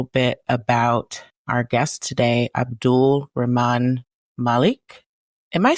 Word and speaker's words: Abdul-Rehman: about our guest today, Abdul Rahman Malik. Am I saying your name correctly? You are. So if pronounced in quote unquote proper Arabic, it would be Abdurrahman.